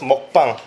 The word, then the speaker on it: mukbang: Et donc on le prononce mukbang.